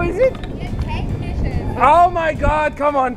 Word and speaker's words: Technisches: Technisches. Oh my God, come on, tell it to me. Technisches Museum. Technisches Museum. What is not written over there? It's technisches.